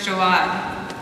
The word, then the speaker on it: Jaouad: names hers is a wad and mine is jaad that's j a o u a d cancer is scary but there's real fear in the eyes of English speakers when they are forced to pronounce four vowels in a row I'm sure Gabrielle could